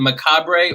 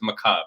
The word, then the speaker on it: macabre: you could say the macabre or the macabre either one okay okay so the macabre i'm gonna call it the macabre motel because i like pronouncing all the letters but that's just me